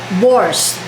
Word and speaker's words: borscht: Ang pangalan ng soup niya is borscht. Borscht. Whatever borscht. Ang hirap bigkasin. Para daw borscht. Dagdagan lang daw T.